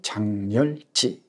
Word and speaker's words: 작렬지: 옌 는 커버에 장편소설 장 렬 지 골랐습니다 발음이 좀 어렵죠 작렬 g 입니다 아 이 작렬 지는 참 2013년에 에